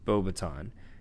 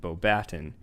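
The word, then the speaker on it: Beauxbatons: He attended Beauxbaton, which is rightfully pronounced Beauxbaton. In the film, they pronounce it Beauxbaton, which is a French wizarding school located in the mountains of France.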